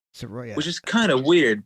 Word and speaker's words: Saroea: It's actually pronounced Saroea. Saroea.